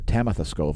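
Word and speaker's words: Tamitha Skov: mcintosh and tamitha scove rather tamitha scove i believe is the correct pronunciation let us know in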